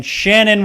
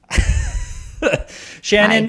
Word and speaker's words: Shannon: hate tannins please welcome it rhymes with tannin shannon woodward oh hello i was